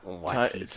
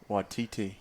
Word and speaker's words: Waititi: Taika Waititi? Taika Waititi? He also goes by Taika Cohen. No, it's not Taika Waititi. Taika Waititi.